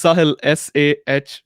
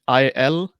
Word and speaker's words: Sahil: It's Sahil, Sahil, and then, and then official. How do you pronounce it?